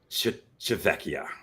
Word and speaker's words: Civitavecchia: How do you pronounce it, Jason? Civitavecchia.